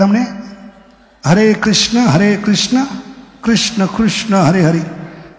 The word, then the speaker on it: कृष्ण: अगर कृष्ण होता तो क के नीचे वो दंडी होनी चाहिए। अभी क के नीचे क्या है? उल्टा उकार है, तो क्या उच्चारण होता है? कृष्ण होता है, कृष्ण होता है।